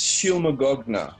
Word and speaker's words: Shylmagoghnar: they're called again Dilma I think it's pronounced she'll Magog nah ill Magog gnar know